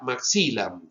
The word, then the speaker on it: maxillam: Yo digo, la pronunciación correcta sería maxillam, y por eso queda mejilla.